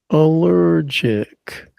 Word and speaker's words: allergic: That's a allergic. That's B. Stress on the second syllable.